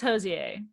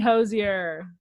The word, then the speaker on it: Hozier: suck at singing closure no it's pronounced jose i swear to god because connor went to his concert and he i just said sorry guys he dragged me for saying hozier um howdy pronunciation yeah